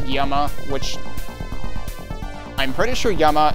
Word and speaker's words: Llama: that uh that town presumably given that everything else has had a Spanish name that town is actually pronounced Yama which I'm pretty sure